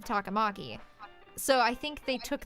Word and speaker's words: Takamaki: pronounced that way um on's last name is pronounced takamaki instead of takamaki so i think they